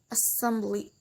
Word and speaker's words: assembly: There are an exceptions again in these rules, like in the word assembly. In this word, the stress put in the second syllable.